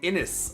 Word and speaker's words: Innis: names live on stream like guinness without the g innis okay innis okay thank